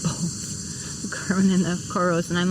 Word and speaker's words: Coros: Coros.